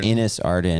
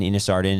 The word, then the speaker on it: Innis Arden: Well, some pronounce it Innis Arden, some pronounce it Innis Arden. It is Innis Arden. Is it I think Innis? if we're trying to be correct.